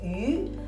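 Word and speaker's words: 鱼: The reason is that the pronunciation of Chinese character fish is yu, which is the same pronunciation as the character of surplus.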